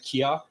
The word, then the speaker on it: Kia: your last name uh KIA KIA yeah like the car yeah pronounced Kia yeah okay great so